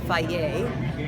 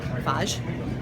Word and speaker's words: Fage: Believe it or not, it is pronounced Fage, not Fage, which I always thought it was.